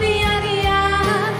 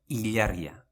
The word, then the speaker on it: ilargia: zuretzat ilargia lapurtuko nuke gauero / would steal the moon for you every night as we have seen, we can say in two ways Ilargia or illargia, but never iyargia nothing